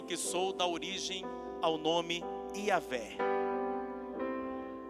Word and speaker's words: Iavé: Porque eu sou o que sou dá origem ao nome Yahvé. O nome de Deus é Iavé.